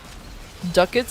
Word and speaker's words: ducats: Duckets is the way most of us say it because it's spelled like duckets. Ducats I think like who like who actually calls it dats?